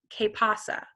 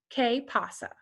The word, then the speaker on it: qué pasa: And the way to say that in Spanish is ¿Qué pasa? ¿Qué pasa? So you're just going to say K, like the letter K, pasa.